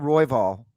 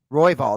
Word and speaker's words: Roybal: it's funny it's interesting they were talking about royvall roybal that is how you pronounce roybal but john was talking